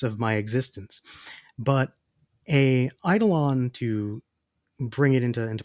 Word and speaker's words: eidolon: would like us to discuss what is an Idol on so where I'm going to spell this for our listeners it's spelled e-i-d-o-l-o-n and I want to know how